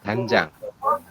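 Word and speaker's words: 간장: mengejanya berarti menjadi panjang ya Saya ulangi untuk membacanya menjadi ganjang seperti itu Oke sampai sini bisa dipahami teman-teman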